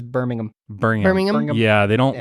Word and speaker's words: Birmingham: but I think it's Birmingham Birmingham no like Alabama I think it's I think it's Birmingham Birmingham yeah they don't like you don't pronounce the h like ham if I was like